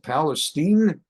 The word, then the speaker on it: Palestine: Why they pronounce it Palestine? I don't know. Maybe they thought it's Jewish, like Bernstein, like Goldstein. Pronounce it Palestine. But that's why, and same thing in Texas.